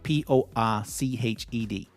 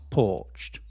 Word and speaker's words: poached: It's a poached egg. You know, when you the egg, the yolk is surrounded by the white in a little jacket. Kind of elegant for its dinner. Poached. p o a c h e d. Poached, not porched.